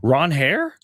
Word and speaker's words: Ranger: That's how he pron That's how you pronounce his name. Ron Hair. Wow. I He said that at his intro introductory press conference with the Red Sox. He's like, "Oh, yeah. By the way, my name is is Ron Hair, but I don't mind, Ranger."